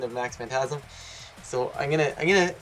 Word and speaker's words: Max Phantasm: I've received a lot of hate for my mispronunciation of Max phantasm so I'm gonna I'm gonna gonna fix it